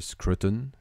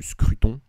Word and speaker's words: Scruton: le 12 janvier 2020 Roger Scruton ou Scruton si on prononce son nom à la française ce qui permet un